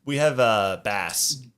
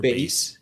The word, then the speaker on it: Base: We have Bass or Base. Right? I actually don't know how to say it. I used to call him Bass, and then he told me it was Base.